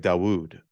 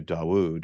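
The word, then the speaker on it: דוד: And the Hebrew for David is hard to pronounce because you have this D and then it's like Dawood.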